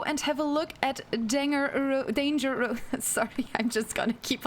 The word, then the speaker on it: Danger: I recommend Danger Rose. It's pronounced Janger.